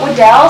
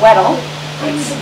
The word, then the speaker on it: Weddell: I call it Weddell, some people say Weddell. Both correct pronunciations are acceptable.